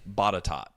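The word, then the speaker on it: Botetourt: They pronounce it Batat.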